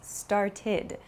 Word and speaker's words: started: So, for example, start becomes started. It has an iid sound. It's not an ed sound, but an id sound.